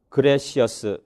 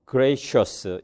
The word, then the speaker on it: gracious: Native English speakers는 네이티언, 그레시어스 이렇게 발음하지 않는다. 대신에 그들은 nation, gracious 이렇게 발음하고 삐리리 컨저넌트가 펠리터라이즈드 되었다.